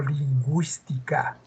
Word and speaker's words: lingüística: los dos puntitos acá dice lingüística pero se pronunció y digo lingüística Cómo se llama esos